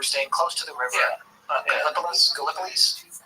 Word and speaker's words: Gallipolis: Gallipolis?